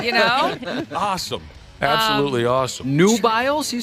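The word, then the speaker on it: Nubiles: good time yeah you know awesome absolutely awesome new biles you said new biles Nu U i l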